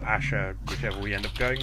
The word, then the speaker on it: Ashar: We've also started to record the first episode of our podcast to accompany Lost Empire of Ashar, Asher, whichever we end up going with.